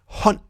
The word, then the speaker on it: hånd: Stål, which means steel, and hånd, which means hand.